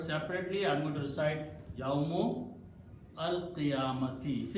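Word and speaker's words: يوم القيامة: So he says, if I don't pronounce alif and pronounce yawmul qiyamati, it's fast to pronounce, sounds has rhythm in it. It's beauty of the tajweed in it. So he will pronounce yawmul qiyamati. So he does not pronounce this alif.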